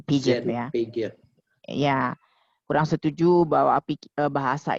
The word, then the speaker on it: Piaget: Ya, Pak Udet kan kurang setuju dari si Jean Piaget ya, bacanya Piaget ya. Piaget.